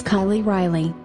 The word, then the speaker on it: Kiley Riley: story my name is Kylie Riley yes it Rhymes and yes it is